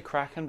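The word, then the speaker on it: Kraken: your two most recent books crackin am i pronouncing there well I say crackin but I don't really care what people call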